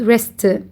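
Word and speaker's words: wrist: This is called rest. W is silent.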